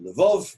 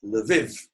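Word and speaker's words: Lviv: live if in Ukraine some of you may pronounce it live off but the people who live in the live pronounce it Levin if they're Ukrainian speakers and I was there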